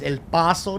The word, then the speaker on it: El Paso: Grande that there is El Paso Texas I said it right not El Paso so we're there let